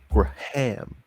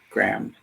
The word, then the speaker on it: Graham: Graham is somehow 1 syllable. Graham. Graham.